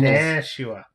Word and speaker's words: Nashua: And the locals, Nashua. Yeah, the locals got it. It's like, no, it's like Nashville, Nashua.